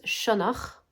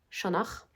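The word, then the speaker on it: Sionnach: Alors, j'ai regardé en irlandais, ça se prononce sonor. Chonar et ça veut dire le renard.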